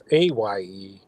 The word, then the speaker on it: Fey: How do you pronounce it? Faye.